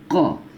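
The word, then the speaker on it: ق: Yang ini ko di pangkal tenggorokan, ko ya. Yang ini ringan saja, ka ya, ka. Jadi dia ada desirnya sedikit, ka. Yang ini ko, yang ini ka. Baik, ulangin, ko, ka ya.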